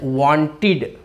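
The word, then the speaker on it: wanted: So when we एड ईडी, तो it will be pronounced as वांटेड।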